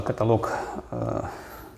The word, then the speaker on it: каталог: Да, вот я вам покажу сначала каталог, правильно говорить, каталог.